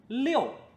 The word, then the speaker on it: 六: If to the top of 八 we add a hat, then it is "liu4" "liu4" 六 is the number six.